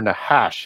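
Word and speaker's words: נחש: the the cash or nahash as it would be pronounced in Hebrew that's the word for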